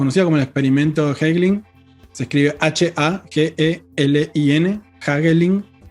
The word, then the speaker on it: Hagelin: hecho en Washington, conocido como el experimento Hagelin, se escribe H-A-G-E-L-I-N, Hagelin, y que justamente quizás algunos de ustedes